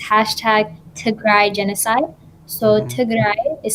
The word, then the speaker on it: Tigray: are really great to look at it's hashtag to cry genocide so is spelled t i g r a y and